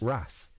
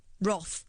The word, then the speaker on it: Roth: I'm surprised you're not pronouncing that Eric Rath. Roth. Yeah, normally you pronounce R-O-T-H. Yeah, normally you pronounce Roth Rath.